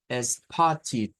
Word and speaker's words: spotted: Que esta palabra va a sonar a id al final. O sea que esto lo debemos pronunciar como spotted.